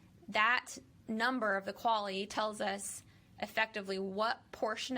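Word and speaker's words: QALE: life and calculate a quality adjusted life expectancy so q-a-l-e which i haven't figured out another way of pronouncing this other than quali so we have quali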